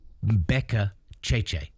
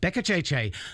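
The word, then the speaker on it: Beccacece: Seba, because the point is, I want to do the proper Argentine Italian pronunciation. That's why it's Seba Becca Cheche. Che, not Say, Becca Che, sprinting down that sideline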